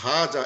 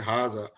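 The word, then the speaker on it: هذا: হাজা, কিন্তু উচ্চারণ করতেছে হাজা, এখানে একটা খারা জবতে পড়তেছে, কিন্তু আলিফটা নাই, আর লেখাও হয় না, কিন্তু পড়ার সময় অলওয়েজ আমি একটা আলিফ দিয়ে পড়ি, এরকম একটা খারা জবত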